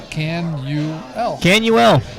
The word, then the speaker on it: Canuel: Can I believe it's phonetically spelled on that paper? Canuel. Okay. Mitchell Canuel from Westport, Mass.